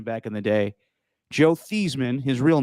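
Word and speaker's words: Theismann: in the day joe thiesman his real name he changed his name to this rhyme with heisman ridiculous he while he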